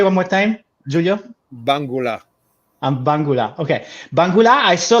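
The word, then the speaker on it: Mbangula: Bangula.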